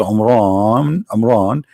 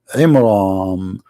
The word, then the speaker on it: Imran: the name wrong because it's not Amran, it is Imram, which means the last letter is M, not N.